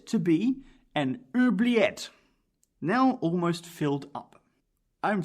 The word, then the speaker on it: oubliette: So, an oubliette is a dungeon. Can I just try and pronounce it? Oubliette. Oubliette. It's a French word.